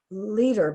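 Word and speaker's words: Lueder: ostomy association okay and her name is wendy leader but it's spelled l-u-e-d-e-r um well see you'll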